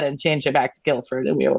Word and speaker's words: Guildford: the same way but because the D the first D is essentially silent I was listening to an audio book a while ago and the narrator clearly didn't know the pronunciation so throughout this entire book she said Guildford when never she spoke about Guilford Dudley and it was so distracting so I did think